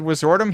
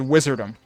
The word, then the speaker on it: Wizordum: that they added was the very first time he said wizardum, he said wizardom. And I was like, I've been pronouncing it wrong. And but then the other two or three times that he said it later in the same passage, he said wizardum the same way that I've been saying it. So, they can't freaking make up their mind how it's pronounced either.